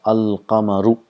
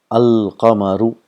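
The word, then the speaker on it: القمر: If you see here, if we have a word qamarun, if we add al and qamar, it becomes al-qamaru. The sound of lam is also produced. Al-qamaru.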